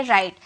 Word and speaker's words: write: तो ये सब चीज़ याद रखिएगा, अगर WR साथ में आते हैं तो W की प्रोनाउंसिएशन नहीं की जाती है, सिर्फ R से उसकी प्रोनाउंसिएशन की जाती है, यानी कि WRITE, इसे हम कहेंगे राइट।